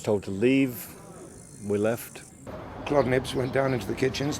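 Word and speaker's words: Claude Nobs: And so we were lucky enough to get the help from Claude Nibbs. I say Claude Nibbs, everyone calls him Claude Nobbs, but I know his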